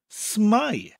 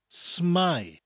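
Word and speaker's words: s'mae: North Wales they often abbreviate sit my to smile spurt s apostrophe ma e smile which is the equivalent of the English phrase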